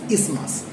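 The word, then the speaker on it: isthmus: The actual pronunciation is ismas.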